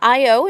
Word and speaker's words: Io: you're looking at uh IO is how you say that Europa ganim me and